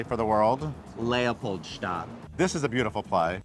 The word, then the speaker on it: Leopoldstadt: with this play, which I want you to pronounce correctly for the world. LEOPOLDSTADT.